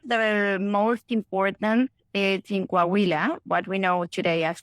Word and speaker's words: Coahuila: So for those people listening, Coahuila, excuse my pronunciation, Coahuila. Coahuila, thank you, is a state.